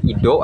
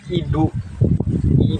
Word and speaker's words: idhu: illa billahil aliilim Nah kalau misalkan sahabat terdengarnya Ido ataupun apa ya jadi sebut saja idu d h u jadi bacanya idu putih seperti itu bacaannya ataupun kalimat dari